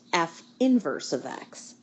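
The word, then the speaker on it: f⁻¹(x): notation we use for the inverse function it's pronounced F inverse of X I know it looks like it says F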